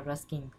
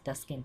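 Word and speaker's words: Taskin: the players precisely and saying tuskin or Ruskin man it is tuskin t a s k i and tuskin Ahmed who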